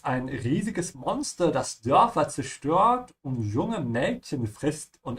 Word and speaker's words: zerstört: And whenever you're going to pronounce it, don't destroy the first letter and pronounce it correctly. It's like tss, yeah? Zerstört. The S is like snake, yeah, not like s. Zerstört.